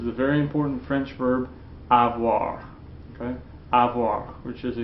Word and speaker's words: avoir: Again, the infinitive is pronounced avoir, avoir, okay?